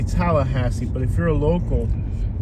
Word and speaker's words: Tallahassee: Tallahassee, Florida.